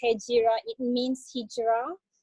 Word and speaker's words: Hejira: Hejira is Hegira. It's spelled like Hegira but pronounced Hejira.